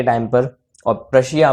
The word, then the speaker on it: Prussia: State बनी हुई थी, प्रशिया। जी हाँ, PRUSSIA। बहुत लोग इसको रशिया समझ लेते हैं पी को साइलेंट करके, तो ऐसी गलतफहमी मत पालिएगा। पी जो रशिया है वो अलग है, प्रशिया अलग है।